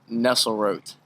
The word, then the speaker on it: Nesselrotte: do you say your last name it's Dalton Nestle root Dalton Nestle Road all right before I let you go uh